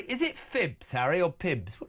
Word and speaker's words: Phibbs: Is it Phibbs, Harry, or Pibbs? How do you say that? That's it. Harry Phibbs, yes.